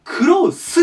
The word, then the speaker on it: close: を閉じるとかクローズドアとかねで近いの時はクロースになります最後ス図とスの違いですクローズとクロスいい